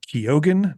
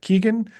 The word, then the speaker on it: Keoghan: Thank you for the one reshoot, Barry Keoghan, not Keegan, or any other of the many mispronunciations you hear in Hollywood.